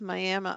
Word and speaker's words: Miami: I think it was Miami Oklahoma um it's spelled like Miami but they say miam you get corrected out